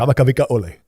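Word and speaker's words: Kamakawiwoʻole: Because I could never pronounce that name. I'm Native Hawaiian. I'm very embarrassed by it. Kamakavika Ole.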